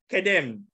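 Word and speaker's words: קדם: So it is kedem. This is the pronunciation.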